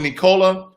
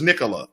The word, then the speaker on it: Nikola: of nikola tesla so i call it nikola but it's nicola okay so formal words anyway